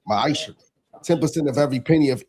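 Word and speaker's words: מעשר: In the book of Malachi chapter 3 verse 8-10 means 10th in Hebrew and it's pronounced maisha 10% of every penny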